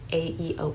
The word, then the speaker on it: Aeon: I think that's how it's pronounced. It's Aeon.